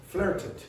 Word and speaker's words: flirted: Flirted. And the reason you pronounce that as an id is because of that T there.